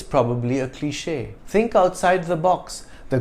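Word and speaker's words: cliché: my viewer showroom kundu cliche the acute accent over the e is a clue to the French origin of this word without this accent the word would have been pronounced cliche in French a cliche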